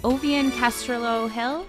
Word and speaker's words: Ovvian Castrillo-Hill: energeticcity.ca welcome back I am now joined by ovian Castro Hill and that's how you pronounce it right good morning um she is